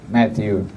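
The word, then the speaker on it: Mathieu: Matthew is not so spelled like the English, Matthew in French is M-A-T-H-I-E-U, Matthew.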